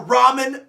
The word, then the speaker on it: ramen: is really good so if you call it Raymond noodles you can walk into the ocean I don't care like call it ramen noodles next thing that people